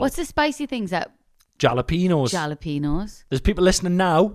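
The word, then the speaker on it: jalapeño: It's a h, not a j.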